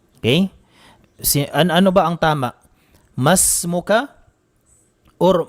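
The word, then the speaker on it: ما اسمك: Kadalasan ay meron pong mga estudyante na nagkakamali po dito, sinasabing maismuka. Maismuka, ano ang iyong pangalan? Maismuka ay mali po ang pagbigkas natin sa tanong na iyon o pagsabi. Ang tama po ay masmuka kung lalaki.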